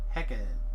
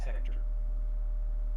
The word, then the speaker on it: Hecate: Well, it's Hecate. Hecate. I always thought it's pronounced Hector.